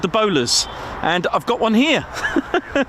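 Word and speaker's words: Bolars: And they call it the Bowlers, as in bowler hat, but it is spelled b o l a r s.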